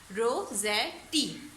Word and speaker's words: Rossetti: CHRIS Chris, TINA टीना, Chris टीना, CHRIS Chris, TINA टीना, Christina रोज़ेटी, ROSSEZ, रोज़े TIT, रोज़ेटी, Christina रोज़ेटी, ROSS रोज़ ETTIT, Rossetti.